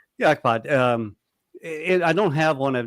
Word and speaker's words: Ikepod: I've always I call them Ikepod. Is that the right way to pronounce it? Yep, that's it. Yeah, Ikepod.